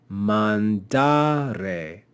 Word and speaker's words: mandare: a long vowel therefore since the penult is long the penalt will be accented so we'll say mandare because the penult is long here we see another verb